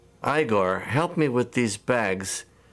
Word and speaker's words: Igor: You must be Igor. No, it's pronounced Igor. But they told me it was Igor.